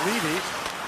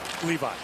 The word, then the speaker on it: Levi: some people who say his name should be pronounced leavy that know the family he insists he's devin levi and as a matter of fact you cannot